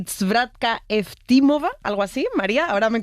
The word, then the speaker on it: Zdravka Eftimova: Ayúdanos a pronunciar los autores. A ver, Georgi Gospodinov, sí. Zdravka Eftimova y Vera Mutavcheva.